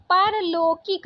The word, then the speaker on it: पारलौकिक: ठीक है, परलौकिक नहीं होता, पारलौकिक, पारलौकिक। पौधा नहीं, पौधा अभी बताए थे, पौधा को लेकर।